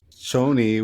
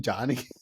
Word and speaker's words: Chani: So, as I was watching this movie and he kept calling her Shoni, which is her name, I swear I went the whole movie thinking, is her goddamn name Johnny? If anything, it helps you pronounce it, right?